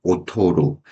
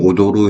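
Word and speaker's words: 劣る: 먼저 우리가 품질이 뛰어나다 해주면 힝시즈가 수그레로, 품질이 떨어지다 힝시즈가 오토로. 여기서 조심해줘야 되는 것은 오도도, 연음으로 발음해주면 오도로 해주면 춤추다가 됩니다. 그렇기 때문에 품질이 떨어지다 해주면은 힝시즈가 오토로, 오토 세게 발음해 주십시오.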